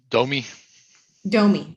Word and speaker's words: Domey: maria deeb i domey uh yes yes is that correct pronunciation of your last name uh domi domi okay thank you domey